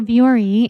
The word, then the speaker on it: Vuori: So Viore is spelled Vuori, but you can also find it